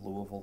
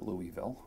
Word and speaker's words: Louisville: They were in Louisville, Kentucky. You can tell I lived there because I know how to say it. It's not Louisville.